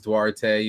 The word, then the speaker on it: Duarte: In high school and growing up, it was Duarte. It's pronounced Duarte. Like, that's kind of why it fits, right? And because that's what I do, right? I do art, right?